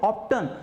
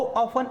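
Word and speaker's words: often: यहां पे मैंने लिखा है हाउ ऑफन यहां पे हाउ ऑप्टन ऐसा प्रोनाउंसिएशन नहीं करना है। हाउ ऑफन इट मींस कितनी बार?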